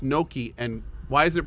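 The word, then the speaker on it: gnocchi: times but I'm not sure how to properly pronounce it Julia are you in here Julia would know noi noi really Noki why why did I think it was called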